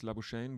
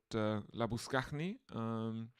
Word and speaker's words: Labuschagne: He insists that his name isn't Manos Labuschagne, but Labuskachny. He gets electrocuted for saying that his name isn't Labuschagne, and he has to clarify that it's Labuskachny, but no other Australian can pronounce that.